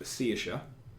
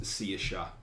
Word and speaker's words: Saoirse: alphabet, but it's pronounced Seisha. But the spelling of it is Saoirse. But it's pronounced Seisha. Seisha.